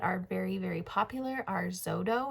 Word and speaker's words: Xodo: Two that are very, very popular are Zodo, which is spelled Xodo, and Notability.